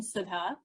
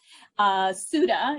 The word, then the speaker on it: Sudha: So as my mom or Nani would pronounce my name, Sudha. Sudha is the Americanized pronunciation, or Susudio, Sudafed, all kinds of renditions.